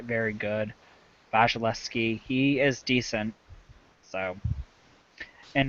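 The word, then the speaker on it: Vasilevskiy: Pavlik against Andrei Vizhnevsky. You used to know how to pronounce Vasilevsky. Vasilevsky.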